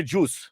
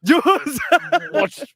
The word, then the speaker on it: Zeus: And of course, Maharashtrian say juice. Zeus.